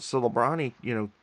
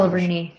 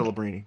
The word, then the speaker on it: Celebrini: with, the best odds, so Lebrani, Sabrani or whatever you want to, whatever his pronunciation, Celebrini, I think. Celebrini.